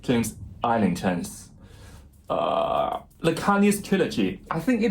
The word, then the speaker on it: Islington: It is Islington, not Islington, as I watched an Instagram reel by him.